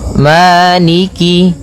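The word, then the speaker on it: مالك: Jangan sampai dibaca dengan e, tapi dia I. Maliki maiki yaumiddin.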